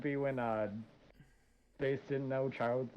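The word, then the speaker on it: Childe: it was it's child they pronounce it child the big name a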